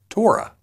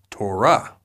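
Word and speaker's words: תורה: For example, when we say this Hebrew word, many often say Torah. However, in Hebrew, the closed syllable comes at the end, so it is actually pronounced Torah.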